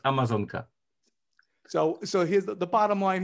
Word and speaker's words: Amazonka: In the Polish language, how is Amazon River pronounced? Please say that South American river for us. In Polish, it is Amazonka. So Amazonka.